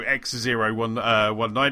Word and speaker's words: X019: And then they announced that, X019. So it's kind of I think Graham Boyd's kind of said it was how you pronounce it. So it's X and then it's 019. So X019 is coming to London,